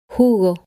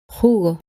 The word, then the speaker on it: jugo: The letter J is always pronounced Hija, ojo, jugo. In many areas of Spain, but especially in the center and in the north, the letter J is pronounced much stronger and sounds like this. Hija, ojo, jugo.